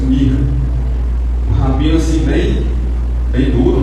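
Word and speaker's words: Mich: O nome do rabino era Mirra, só que a escrita é M-I-C-H. Se for dizer em português, obrigado. A gente vai ler Misha, né? A pronúncia Mirra.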